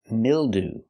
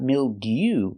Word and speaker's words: mildew: Example, mildew. That's right, not mildew, but mildew. Ooh.